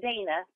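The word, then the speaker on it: Daina: probably a email and I should correct you on my name not that it matters it's Dana Dana and it's D AI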